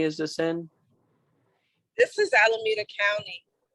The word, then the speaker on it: Alameda: uh what county is this in this is alameda county alawita alameda county yes how do you spell that um a l a m-e-d-a d-a yes